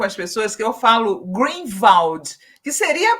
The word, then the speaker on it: Greenwald: Então o segundo nome tá perfeitamente se pronunciado greenwald porque as pessoas falam não é Green wall eu falei nada não